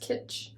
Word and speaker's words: Kitsch: This one is Satin by, I think it's Kitsch, pronounced Kitsch.